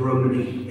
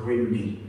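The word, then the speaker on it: Rhymney: put the Bells of Rumney in, or as they say, the Bells of Rimney. And I write in the book, it's the wrong pronunciation.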